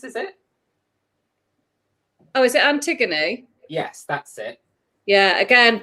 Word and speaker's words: Antigone: Oh, is it Antigone?